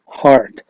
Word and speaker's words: heart: أعضاء جسم الإنسان وهي heart heart مع إن في EA لكن بنطقها heart.